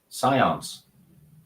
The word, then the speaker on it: Scions: speak English as a first language how's that pronounced Scions Scions okay there we are I'll take that